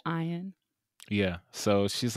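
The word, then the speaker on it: Ian: even though it's yeah it's spelled i a n but it's pronounced ion yeah so she's like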